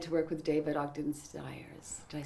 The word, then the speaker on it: Stiers: Oh, I was really excited to work with David Ogden Stiers. Did I say his name right? Stiers.